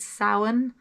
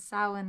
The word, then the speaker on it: Samhain: Also, in Patreon yesterday, I put up some stuff about Samhain. And I told you I'd tell you how to pronounce Happy Halloween to you, which is Icha Sauna Hunaditch.